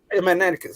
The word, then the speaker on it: Magneticus: you're gonna have magneticus magneticus that's right okay yeah I keep forgetting it magneticus like magnets magnet like magnets attract you you how long